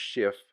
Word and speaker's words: SHTF: strives to be prepared shtf sometimes pronounced shift is short for when